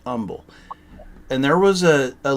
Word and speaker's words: Humble: Houston called Umble Texas spelled humble but it pronounced Umble and there was a a little restaurant there